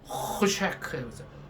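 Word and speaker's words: חושך: 흑암은 이 발음을 정확히 하셔야 돼요. 그 가래 뱉을 때 그러잖아요. 가래 뱉으라는 게 아니고. 그래서 호쉐크, 호쉐크, 호쉐크. 다 같이요. 시작. 호쉐크. 그러니까 호가 아니라 호쉐크. 다시 시작. 호쉐크.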